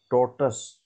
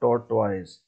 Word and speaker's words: tortoise: Kindly note down, this word is to be pronounced as tortoise, not tortoise.